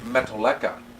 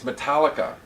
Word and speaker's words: Metallica: She marries Eric, and that's when I get first turned on to, and I used to call them Metallica. I couldn't pronounce it right. And they kept getting on to me. It's Metallica.